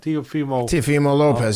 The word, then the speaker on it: Teofimo Lopez: Teofimo Lopez, yep.